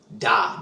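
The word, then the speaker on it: dah: air to it, and that is pronounced da, D-A-H.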